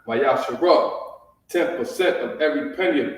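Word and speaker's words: מעשר: The book of Malachi, chapter 3, verse 8 through 10, means 10th in the Hebrew, which is pronounced Mayasharah.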